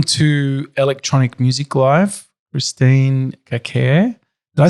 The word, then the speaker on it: Kakaire: Yeah, it's a funny name that seems to have like a lot of different possible pronunciations. Like in Uganda, it's Kakaire, but Kakaire or Kakaire is either one of those is fine.